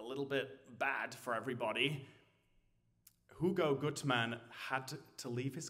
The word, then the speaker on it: Hugo: of the main characters Hugo I should pronounce it in German Hugo Gutman who later became